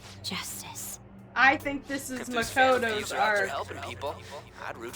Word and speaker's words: Makoto: I think this is Makoto's arc. Helping people. I'd root for him, no questions asked. This is Makoto's arc. What do I want to do? Makoto? Makoto, you had it right.